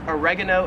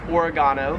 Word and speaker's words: oregano: We would call it oregano in the States. However, here in Australia, it is pronounced oregano.